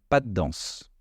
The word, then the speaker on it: pas de danse: de danse en fait on allonge le D mais le de reste très subtile on l'entend mais pas trop c'est parce qu'il est suivi d'un autre d par la suite le D de danse pas de danse pas